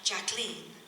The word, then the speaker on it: Jacqueline: And Jackie, or Jacqueline, she liked to be called Jacqueline. And Ethel Kennedy used to say under her breath, "Rhymes with queen."